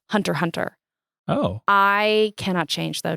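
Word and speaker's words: Hunter × Hunter: Um I or Hunterx Hunter by Yoshiro Tagashi. So caveat, I call it Hunterx Hunter. I learned that I've been saying it wrong my entire life. It's just Hunter Hunter.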